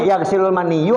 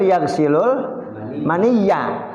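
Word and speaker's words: يغسل المني: Yang benar yaghsilul maniya. Karena yaghsilul maniya. Maniya jadi maf'ul. Iya. Jangan yaghsilul maniyu. Kalau yaghsilul maniyu, mani yang mandi. Ini mah nabi yang membasuh. Yaghsilul maniya, ganti sama maniya.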